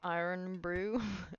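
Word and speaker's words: Irn-Bru: I remember pronounced iron brew. Oh, no, I like my pronunciation better. But thank you for the suggestion though.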